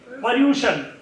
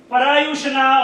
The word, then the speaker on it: Paryushan: Paryushan. Not pollution, right? Prayushan. Parayushana or Parayushan. Well done.